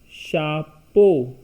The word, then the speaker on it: chapeau: chapeau which means hat CH is sure Oh U is X is silent becomes shoe cabbage e au oblique a you both gives O sound be e au is bo-beautiful C at shah-e au o total will be chapeau head Oh water doh